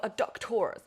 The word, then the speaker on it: adductors: You're going to feel this in your adductors. I always have to say it like an American sort of presenter.